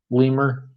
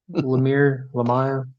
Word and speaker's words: Lemire: Lemire, however you pronounce it. Lemur. Right. No. Lemire.